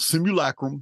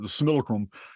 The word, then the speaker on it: simulacrum: similar Chrome is submittal simulacrum however you want to say the Latin pronunciation or mine the similacrum it basically means the